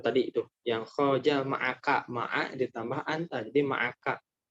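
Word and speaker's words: مع: Itu tadi itu yang khoja ma'aka, ma'a ditambah anta jadi ma'aka. Itu juga ada yang bacanya ma' disukunkan gitu. Ada syekhnya. Cuma jarang, yang sering Mas Jamal dengar itu ma'a.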